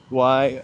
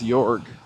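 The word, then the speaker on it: Jorge: Also, you know, the first time I saw Yorge written down, I thought it was Jorg.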